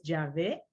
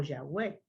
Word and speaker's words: Yahweh: También era conocido como el nombre de 4 letras, porque la transliteración del hebreo se deletrea YHWH y su pronunciación es Yahvé o Yahweh.